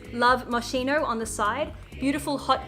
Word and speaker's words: Moschino: Yes, Moschino, that's how you say it.